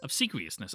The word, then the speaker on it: obsequiousness: I want the pronunciation. Obsequiousness. Obsequiousness.